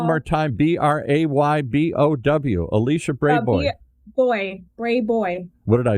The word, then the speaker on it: Brayboy: Spell it one more time. Braybow. Alicia Brayboy. Brayboy.